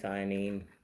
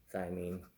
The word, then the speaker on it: thymine: you need to adenine thionine uh guanine and cytosine so adenine thymine I think I pronounced thymineated wrong a minute ago guanine and cytosine so